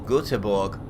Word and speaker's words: Göteborg: It's the Volvo factory at Gothenburg or Göteborg, I believe it's pronounced.